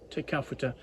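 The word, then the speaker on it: Te Kauwhata: extent with work at Teawata or would now be pronounced Teafa which was then the government's center for wine research.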